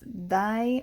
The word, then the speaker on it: 大: okie meaning big but it can also be pronounced dai or sometimes tai like in this if